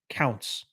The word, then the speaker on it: Counts: pena uh anthony uh you said my name right the first time ounce with the c in front but thanks for the apology counts counts there we go i